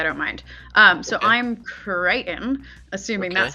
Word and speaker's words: Crichton: I'm Crichton, assuming Okay. that's how you say it with my accent Yeah, because I Crichton.